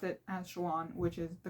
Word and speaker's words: Shallan: Shallan, I pronounced it as Shallan, which is the correct way to pronounce it.